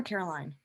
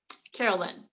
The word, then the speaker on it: Carolyn: Is it pronounced Carolyn or Caroline? Carolyn.